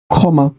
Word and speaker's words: ক্ষমা: তকার ত হবে ক্ষত আছে ক্ষমা তাহলে উচ্চারণ হবে খমা খান্ত তাহলে কি হবে